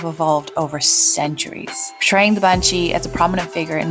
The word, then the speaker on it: bean sidhe: outside Ireland might not know this the word bansi is spelled b e a n s i d